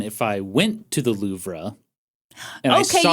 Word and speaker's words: Louvre: I went to the loua and I saw you don't have to keep pronouncing the r I'm having fun with